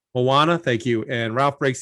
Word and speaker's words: Moana: who also worked on moana how do you pronounce it moana moana thank you and ralph breaks the internet uh